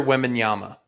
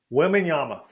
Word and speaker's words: Wembanyama: How do you pronounce his last name? Victor Wembanyama. Wembanyama.